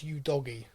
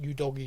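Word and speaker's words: Udogie: Scarlett, Divine, Udogi, which, by the way, I've been pronouncing wrong. It is Udogi.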